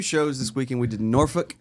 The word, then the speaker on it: Norfolk: We did Norfolk, Virginia is how they pronounce it. Norfick and that was on Friday night and Saturday night we were in Charleston.